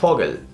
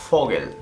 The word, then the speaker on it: Vogel: En alemán la V se pronuncia como una F.